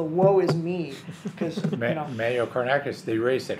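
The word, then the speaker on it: Woisme: The I'll spell it W-O-I-S-M-E. I'm pretty sure that was pronounced the woe is me.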